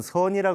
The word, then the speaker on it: 선: 그래서 중국 발음을 하면 찬이 되고 일본에서는 젠이라 그러죠. 그래서 우리나라에는 선이라 그래서 SEON이라고 하는 저걸 공식적으로 쓰기로 했습니다.